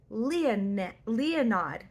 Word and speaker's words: Leonid: It is Leonid. I knew that if I went into this saying Leonid, people who read it before but didn't listen to the name, how it's pronounced on Audible, would like accuse me of saying it really weird. I'm not meaning to say it weird. I don't think it should be pronounced this way, but that's how Audible says.